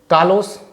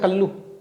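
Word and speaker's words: callow: कालोस, कल्लू होता है, कल्लू। हम कल्लू नहीं बोलेंगे, हम बोलेंगे कालो।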